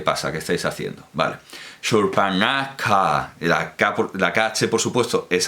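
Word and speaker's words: Śūrpaṇakhā: Nos está diciendo que se pronuncia Shurpanaka.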